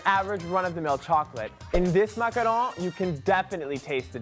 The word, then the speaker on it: macaron: A macaron, on the other hand, well, you've got to pronounce it with that French je ne sais quoi. Macaron, macaron, macaron.